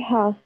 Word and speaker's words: half: Okay, so it's at half. Very good. So it's at 8:30. Let's write 8:30. L silent.